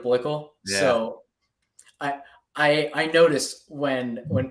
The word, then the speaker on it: Blickle: Listen, I hear Bickle all the time instead of Blickle.